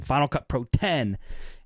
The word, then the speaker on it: Final Cut Pro X: Pro 7 so recently Apple releases Final Cut Pro X but it's pronounced 10 Final Cut Pro 10 and basically it's a